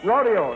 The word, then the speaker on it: rodeo: So many people do refer to them as chaps, but of course they are pronounced chaps. And the next one is R-O-D-E-O. Joel? Rodeo. Paul? Rodeo. Rodeo, that's right.